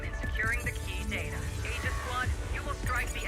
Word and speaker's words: Aegis: It's actually pronounced Aegis, not Aegis. You don't say the A part.